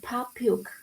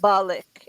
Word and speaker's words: public: It's two syllables. Public. Public. Public. We need to make public. Public. Better. Public. But we need to work on this being one sound, and not balik. It's just blick.